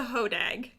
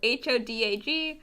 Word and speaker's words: hodag: be a hoax is the hodag the what i believe that is how it's pronounced i have not heard it said out loud anywhere but it is spelled h-o-d-a-g so i'm going to call it the hodag and it stems from